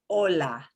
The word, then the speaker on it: hola: by itself in spanish the h does not make a sound at all it is the one